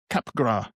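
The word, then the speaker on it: Capgras: uh it's called um capra syndrome I think Cap. I don't think the S is pronounced where it's a delusion some people suffer from.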